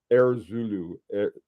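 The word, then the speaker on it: heure zulu: the Zulu hour but you pronounce it and it sounds like you know the air kind of like a foref line and zoo of course is a pilot's time love that uh that's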